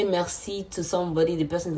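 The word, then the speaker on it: merci: to be how do you say thank you Mercy or Mercy Mercy Boku is thank you so much Mercy thank you Mercy B thank you so much the next one is going to be when you say Mercy to somebody the person is going to tell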